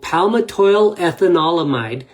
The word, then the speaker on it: Palmitoylethanolamide: P EA palmato is the precursor to the ethanol and then the mide meaning a fattious substance. So palmato ethanolamomide is how you say this word properly.